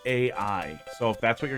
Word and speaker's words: AI: It's pronounced AI. So if that's what you're going to talk about, if you're going to say it 40 times, it's AI.